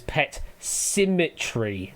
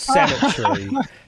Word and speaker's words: Pet Symmetry: It is Pet Symmetry, not Cemetery. That's fair. If you changed that vowel sound at the beginning of the second word slightly differently, it would have been fine. But he said cemetery, not